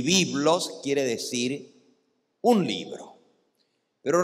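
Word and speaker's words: βίβλος: es una palabra griega en griego libro se dice byblos byblos como se dice el libro en griego biblos el plural de biblos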